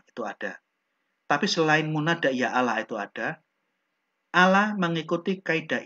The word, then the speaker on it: Ya Allah: juga disebutkan ketika menyebut Ya Allah bentuk munada seruan pengucapannya bukan Ya ialah melainkan Ya Allah kenapa seandainya tidak ada